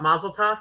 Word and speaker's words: Mazel Tov: I guess it's what, Mazel Tov, right?